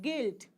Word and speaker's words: guilt: UI l t Okay suppose you have guilt gu u i l t you are not speaking U at all we are not saying